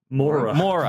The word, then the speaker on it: Moura: How you say it? Moura. Wagner Moura. You're introducing a Moura. lot of vowels in it that are not necessarily part of his name.